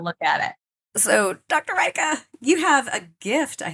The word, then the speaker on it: Rajka: And I always tell people my name is Rajka, rhymes with Micah.